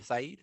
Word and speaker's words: Said: how you have an orientalism by Edward said Saeed said one of it that's pronounced one of those by in the orientalism